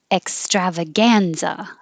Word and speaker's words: extravaganza: second syllable, superfluous, superfluous, extravaganza, extravaganza. And it does look like extravaganza, but it's extravaganza. The strav is stretched longer, but the gan is higher.